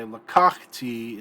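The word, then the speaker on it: לקחתי: Okay, lakakti is going to be accented on the 2nd syllable.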